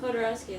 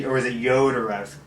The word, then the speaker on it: Jodorowsky: Well, it depends on where he's from. Yeah, is it I thought it Jodorowsky? was like Jodorowsky. Yeah, Well, I in just- Spanish, J is pronounced like an H. Yeah. I think But he's Chilean. If you're from Chile, then it's pronounced like J.